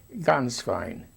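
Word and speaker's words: Gänswein: Ganz fein. It sounds like ganz. It sounds like the word for goose in German.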